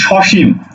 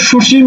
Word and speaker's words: সসীম: আমি আরেকটা শব্দ লিখি সসীম দেখো তো সসীম তুমি কি বলো সুসীম সুসীম সুসীম বলো সুসীম বলো না বলো কি সসীম তাহলে এই যে সীম